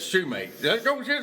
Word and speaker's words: sumac: go hit that patch sumac over there first okay and hey it's hilarious listen to Sal some people pronounce Rick says Shoemake hey there's some sushi